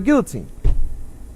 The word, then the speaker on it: guillotine: We pronounce L here in America. There's an Yeah. L. Coach There are Ricky. L's here. But there's two L's next to each other, and them being slightly darker than us.